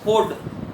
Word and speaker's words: fjord: এটা নরওয়ে শব্দ ফিয়র্ড, ফোর্ড, FJORD, FJORD, ফোর্ড থেকে এসেছে, যে উচ্চারণটা নাই, যার অর্থ মানে মানে ওই নিমজ্জিত,